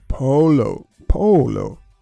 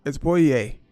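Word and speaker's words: pollo: So basically, I'm in the butcher and I'm saying, I want like polo. And I'm like, polo. And they're like, what? And then eventually I got to pointing like that. And it's poye.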